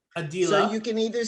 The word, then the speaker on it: Adilah: to be addressed well my name is actually pronounced adila a dealer you can either say